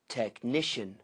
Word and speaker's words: technician: Technician. Stress first syllable.